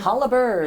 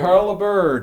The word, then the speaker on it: Holabird: Am I pronouncing that right? Holabird. Holabird, okay.